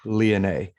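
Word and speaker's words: Leane: my mind oh well the the back of the book pronunciation things was oh leone i missed that one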